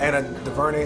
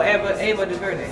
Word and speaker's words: Ava DuVernay: Anna DuVernay, is that how you pronounce her name? And she made 13th and working on Regular Time. Oh, Ava DuVernay.